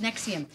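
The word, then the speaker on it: NXIVM: what I was reading the way it was pronounced it sounds it is it is I heard it today you're right pronounced nexium all right so this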